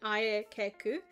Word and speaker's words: Aayeku: And I'll split it up so that you know how to pronounce it. Ayeku.